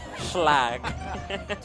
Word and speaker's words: Schlag: Schlag? Schlag. Schlag. It's like how the moon would pronounce log. Schlag.